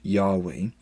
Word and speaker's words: Yahweh: Most scholars believe this name was originally pronounced Yahweh, and if you pronounce